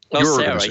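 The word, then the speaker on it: OSEHRA: want to know what Osera, how do you pronounce it? Osera? Osera, yes.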